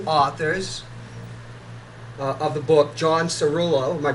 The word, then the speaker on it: Cerullo: have the two authors of the book John Cerullo my pronouncing your name right yes that's right you